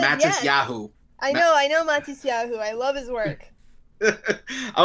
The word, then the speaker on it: Matisyahu: Matisyahu. Matis Wait. Yahu. Okay, Yeah. I thought you were saying Mantis Yahoo.